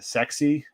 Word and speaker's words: Sachse: Next to that's the Sencut Sexy, SACHSE. I had to look this up. Like, how do you say this, Sencut? Like, they spell it one way and they want you to say sexy.